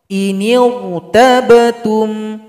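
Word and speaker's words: إِنِ ارْتَبْتُمْ: Contoh inirtabtum, inirtabtum. Jangan inir. Nah, kalau bibir bawahnya masih tetap inir, itu bacanya kurang tepat. Jadi angkat sedikit ke atas. Inirtabtum, huruf ra-nya tebal.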